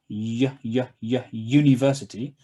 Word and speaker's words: university: a vowel letter but in this word university the sound is a consonant sound so for here yeah